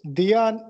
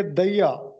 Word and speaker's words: دیا: یہ درست تلفظ دیا نہیں ہے بلکہ دیا, پنڈت دیا شنکر نسیم.